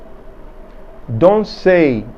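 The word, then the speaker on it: danser: Don't say is the verb to dance.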